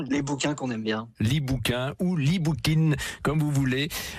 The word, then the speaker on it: libookin: Et in, parce que en fait, si vous prononcez à la française, ça fait le gentil bouquin, les bouquins qu'on aime bien. L'e-bookin ou l'e-bookin, comme vous voulez.